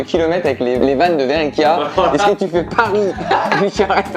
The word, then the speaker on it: Verrecchia: D'ailleurs, on dit Benjamin Verreca ou Benjamin Lemoine? Et donc, t'avais même pas les mêmes lettres là. Niveau prononciation. Oui, bien sûr, Verreca du coup.